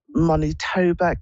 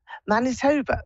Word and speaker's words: Manitoba: this Lori in um monit TOA Canada Manitoba that's it that's how you pronounce it hello okay okay my